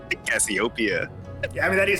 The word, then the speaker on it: Cassiopeia: You're wiping the accent on the P, bro. Cassiopeia? Do you want to say that instead? I think the accent's on the O. Cassiopeia.